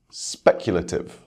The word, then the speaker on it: speculative: First, words ending in ative. For these words, we stress the same syllable as the root word.